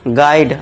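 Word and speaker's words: guide: यदि यू के बाद अगर यू के बाद वोवेल्स हो यानी कि ए, इ, आई, ओ, यू में से कुछ भी हो, तो वहां पे यू हमारा क्या हो जाएगा दोस्तों? साइलेंट हो जाएगा। देखिए कैसे? यू के बाद देखिए वोवेल आ गया। आई। तो यहां पे इसके यू को क्या कर देंगे हम? साइलेंट कर दें। इसे गोवा गाइड नहीं पढ़ेंगे। इसे क्या पढ़ेंगे? गाइड आ का साउंड। गाइड।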